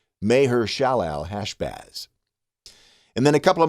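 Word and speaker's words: Maher-shalal-hash-baz: Well, the way you say it, and it is the longest name in the Bible, is Mahershalalhashbaz. Mahershalalhashbaz. Mahershalalhashbaz.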